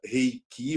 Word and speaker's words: Reiki: que é Reiki né Eu gosto de pensar nessa pronúncia Reiki porque é uma prática japonesa e fala do que